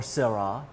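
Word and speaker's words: Syrah: while I enjoy this class of Shiraz or sera depending on how you like to pronounce it I hope you'll join me again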